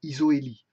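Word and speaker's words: isohélie: Pour certains besoins, on peut faire une isoélie. Isoélie, ça s'écrit ISO avec un H. Attention. Ça s'écrit comme ceci. Isoélie.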